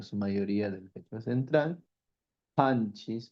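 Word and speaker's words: qanchis: Panchis, pronuncio muy bien, por favor. es con la pronunciación postvelar, una ja y no es una cas, no puedo decir canchis, es con la expresión.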